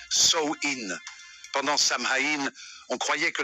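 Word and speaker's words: Samhain: une ancienne fête celle appelé samhin prononcé sin pendant samhï on croyait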